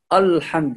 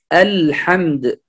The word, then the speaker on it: الحمد: يعني الحمد لله الكلمة الصحيحة يكون الهمزة واللام مرققا، لأن الهمزة في كلمة الحمد مرققة وأيضا اللام، فلا نقول الحمد، لا، الحمد، الحمد، الحمد لله.